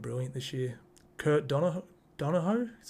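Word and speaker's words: Donoghoe: the he's been brilliant this year Kurt Don Dono is how you say his name mark Nichols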